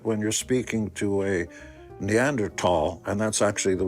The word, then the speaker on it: Neanderthal: you're speaking to a Neanderl and that's actually the way you pronounce the word. It's not Neanderthal even though it's spelled with a T something today. Neanderl when you're speaking to